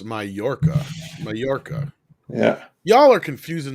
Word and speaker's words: Mallorca: pronounced Mallorca.